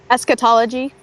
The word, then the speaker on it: eschatology: But like as much as his books deal with eschatology, is that how you pronounce it? Eschatology.